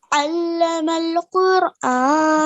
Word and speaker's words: Talimul-Quran: Talimul-Quran. That's the correct way to pronounce it, yeah? And so just remember, where there's an ayn, you recite it as an ayn, not an a, okay?